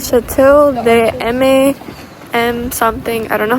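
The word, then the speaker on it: Château de Maintenon: So I looked it up, and the pronunciation of this castle is actually Chateau de Maintenon.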